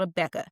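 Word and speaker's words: Abeka: So it's spelled A B E K. Christian curriculum. Okay. So it's called a Becca.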